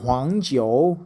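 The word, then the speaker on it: 黄: So huang is the correct pronunciation.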